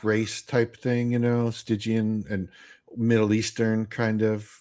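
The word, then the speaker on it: Stygian: Um there might I think she might be uh okay here there going to be people argue about the pronunciation of this but I've always said stigian okay it's a part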